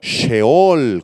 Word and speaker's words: sheol: en nuestras Biblias y en hebreo es la palabra sheol con acento en la sheol Así que estas palabras